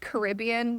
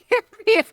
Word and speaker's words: Caribbean: It's weird though because you know you pronounce it Caribbean when I'm talking about the islands but when you're talking about the movie it's Caribbean I never thought of that before.